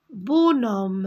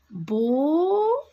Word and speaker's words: bonhomme: Un bonhomme. Regardez, le H, je ne le prononce pas. Bonhomme.